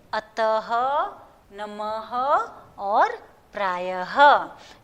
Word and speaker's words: अतः: ह का उच्चारण करना होता है। जैसे अतः, तो त के बाद मैंने वो दो बिंदियाँ लगाई है, तो उसका प्रोनाउंसिएशन त के बाद ह बोलना है।